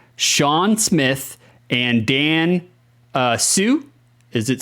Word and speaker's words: Hsu: Smith and Dan uh Sue is it Sue it's Hsu but you don't pronounce the h I think I think